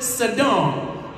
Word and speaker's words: Sidon: region of Tyre and Sidon. Some pronounce it Sidon. It depends upon or depends on who taught you.